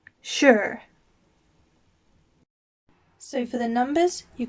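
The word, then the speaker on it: 十: number 10 is pronounced sure and it's in second tone going up sure sure so for the numbers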